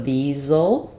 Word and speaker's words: these'll: is a Z sound, and then I'm going to contract will, just use the L sound of it, and it'll have a little schwa there. So these'll be good. And my stress is on the good sound.